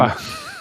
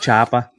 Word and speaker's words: chopper: notice how I pronounce chopper properly. You know how tough that is being from Boston area The and not saying Choppa. it chopper.